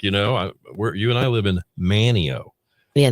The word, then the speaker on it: Manteo: It's just, man, it's like, you and I live in Manteo. Yeah, not There's Manteo. there's no T.